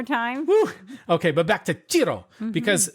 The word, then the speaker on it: Cirò: back to chiro because this short word only has four letters but two syllables and so it's a little bit weird to pronounce I had to look it up but is it it's like Cheeto it's like saying the word Cheeto like you know those